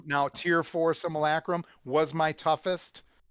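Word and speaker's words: Simulacrum: Similacrim. Now, tier four. Similacrim was my toughest.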